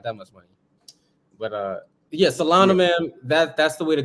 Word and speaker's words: Solana: How do you pronounce it again? Solana.